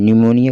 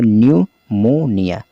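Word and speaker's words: pneumonia: देखिए न्यूमोनिया को किस तरह से पढ़ा जाता है, तो P तो साइलेंट रहेगा यहाँ पर, इसलिए यहाँ पर P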